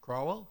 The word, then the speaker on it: Crowell: Crowell? I don't know how to say this. I love Isaiah Crowell. Crowell. Thank you.